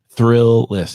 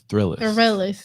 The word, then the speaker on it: Thrillist: this i'm an extrovert why do you say it like that because it's thrillless it's thrillers like the realest the thrillers oh i